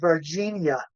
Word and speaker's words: Varginha: Well, I pronounce it Varginha. Virginia. Varginha or something like I that. think so. Yeah, that's I try to remember it as Virginia. Yeah. It's not Virginia.